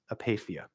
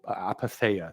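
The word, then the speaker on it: apatheia: main monastic goal is apathia apathia also apatha depending if you want to pronounce it like a British person or an American person um apathia apatha uh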